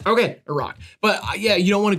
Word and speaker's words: Iraq: safe or anything yeah it's also a rock by the way that's a that's how it's said okay a rock but yeah you don't